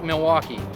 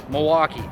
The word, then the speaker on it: Milwaukee: all it's not pronounced Milwaukee it's Milwaukee the L is silent also it's not a